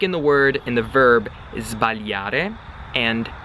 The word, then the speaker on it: sbagliare: When you're saying those two verbs, you have to pronounce the S like a Z, like a Z. Sbagliare, zb, and then svegliare, zv, okay? Completely normal, that's the proper way to do it.